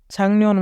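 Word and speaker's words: 작년: যদি ক বাচ্চিমের পরে নিয়ন থাকে তবে ক বাচ্চিমটির উচ্চারণ অনেক সার হয়। যেহেতু এখানে গিয়ক আছে এবং তারপরে নিয়ন আছে, তাই গিয়ক ক বাচ্চিম হওয়ার কারণে গিয়কের উচ্চারণ অনেক সার হবে। শব্দটির উচ্চারণ হবে ছাংনিয়ন মানে গত বছর।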